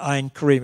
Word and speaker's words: Ein Karem: you have been to ein Karem it rhymes with ice-cream and the best ice